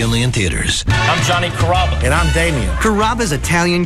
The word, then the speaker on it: Carrabba: Growing up, people always had a hard time pronouncing my name. People chop it up pretty good. You know, Carrabba, Carrabba. It's a really easy name to pronounce. It's Carrabba. Come to Carrabba's for dinner.